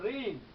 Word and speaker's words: ঋণ: রি বর্ণটি শব্দের শুরুতে যদি থাকে, যেমন দেখো ঋণ, সেক্ষেত্রে আমরা উচ্চারণ করি রয়, অর্থাৎ কিনা রেপ রয় রস্ব ইকা, রি দন্ত ন, ঋণ।